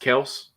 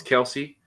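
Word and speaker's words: Kelce: this year i need i guess it's pronounced kels i always thought it was kelsey i need kills i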